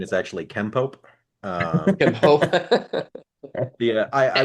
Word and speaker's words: Kenpo: pronunciation is actually Kenpo.